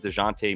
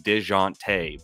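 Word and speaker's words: Dejounte: and went instead with dejonte Murray who did not get any of it correct pronunciation deante by the way spent a lot of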